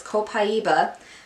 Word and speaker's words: copaiba: I got are copaiba I said it wrong in my last video it's copaiba vanilla shampoo and conditioner